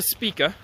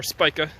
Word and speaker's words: Spica: to Arcturus and then spike to speaker or Spica depending on how you pronounce it so you go